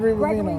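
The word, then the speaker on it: Bovino: Ravino. Gregory Ravino.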